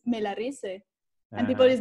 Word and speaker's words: Melarise: pronounce it and in in english it sounds good it's like mellow rice but in spanish it's melarise and people is like